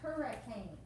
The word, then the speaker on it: hurray: column first and it's not even pronounced hurry it's pronounced hurray please stop adam especially